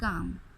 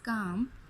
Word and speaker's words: calm: Our first word is calm, ठीक है। Our first word is calm, and in this word letter L is silent, ठीक है।